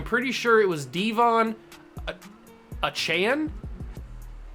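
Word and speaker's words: Achane: sure it was Devon achan I don't think it was a chain I think it was a Chan is how he wanted to pronounce I apologize if that's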